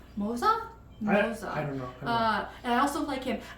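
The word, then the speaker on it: Moze: okay and of course it's not pronounced moose it's uh Mo Moosa MOA I don't know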